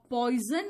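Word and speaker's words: poison: फिर अगर मैं सेम कहूं, सेम, तो सेम में ये साउंड दिया, और पॉइजन में आपने, पॉइजन में ये एस को ज साउंड दे दिया, यानी कि एस का साउंड 3 बार हमने बोला और तीनों बार मैंने अलग अलग साउंड दिया।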